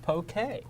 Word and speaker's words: poke: hawaii it's really nice oh there you go pronounced poke oh so it's bouquet okay here's here's a